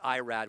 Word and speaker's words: Irad: Well, in Spanish, it's Irad Ortiz.